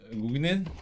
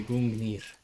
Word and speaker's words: Gungnir: The Gungnir? The Gungnir. Gungnir. You gotta pronounce it like you think you're Icelandic or something.